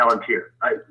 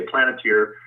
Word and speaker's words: Palantir: Okay, you're saying that Dyncorp links to, I believe that the pronunciation is Palantir, correct? Palantir. Sometimes I say Planeteer. Palantir is correct.